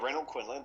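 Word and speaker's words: Renold Quinlan: That's how you pronounce his name, right? Yeah, Renaud Quinlan.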